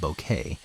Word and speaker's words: bokeh: area of the shot some people pronounce it bouquet but since that's a word that means a flower arrangement in English I avoid it the Japanese word has